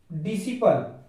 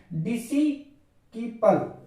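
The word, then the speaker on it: disciple: उसी प्रकार यहां पर अगर देखा जाए तो डिसिपल डिसिपल डिसिपल में सी साइलेंट है, अगर सी को अगर पढ़ा जाता है तो यह वर्ड गलत हो जाए। जैसे कि डिसिकीपल डिसिकीपल मतलब गलत हो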